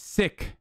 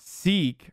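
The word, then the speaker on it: Sikh: against a sick person seek i mean it's sick that's how you say it so shut the up it's not seek right people always say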